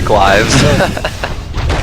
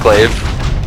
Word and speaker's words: glaive: Did you say glives? Player's forces Oh, that are under crap. attack. Yeah. Glaive. It's a glaive.